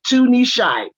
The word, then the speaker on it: Tunishai: you so much and my name is pronounced tunishai which is a japanese name and it means good